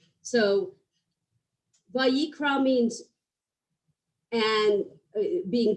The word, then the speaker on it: Vayikra: want to point out the very first word in Vayikra has a very small letter, an aleph, which is a silent letter. So Vayikra means and being called.